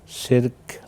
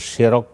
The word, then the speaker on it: শিরক: আলহামদুলিল্লাহ সালাতুসসালাম আলা রাসূলিল্লাহবাদ শিরক আরবি শব্দ তবে আমাদের বাংলায় অনেকেই শিরক বলে শব্দটা শিরক হবে শির নিচে জের দিয়ে রার জয়জম শিরক তো বাংলা শব্দ তো এজন্য শেরক বলে অনেকেই উচ্চারণ হবে শিরক শিরক শব্দের শাব্দিক অর্থ